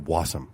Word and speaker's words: Wassum: Did you have a syllable? Is it awesome or Wassum?